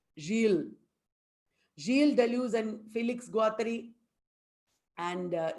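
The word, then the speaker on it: Gilles Deleuze: felix guattari remember guys not guiles it is pronounced real jill delusion felix gawathari and jiel de luz and felix guatra we talked about them uh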